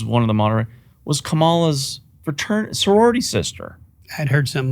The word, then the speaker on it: Kamala: In that debate we saw a few days ago, I thought Kamala is how you pronounce it, did relatively well compared to Trump.